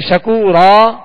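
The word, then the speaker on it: شَكُورًا: میں نہیں لیں گے۔ اب یہاں جب وقف کریں گے شکورن تو پھر جو ہے یہ الف مدہ اس کا پڑھا جائے گا، یعنی شکورا کہہ کر وقف کریں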